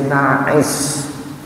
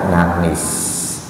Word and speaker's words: na'is: Karena itu pula kita bisa memahami ketika Rasul melarang seseorang mengerjakan sholat dalam kondisi na'is, ngantuk, sangat ngantuk. Ada orang Jawa Tengah, ain bacanya pakai ngain, na'is dia baca nangis.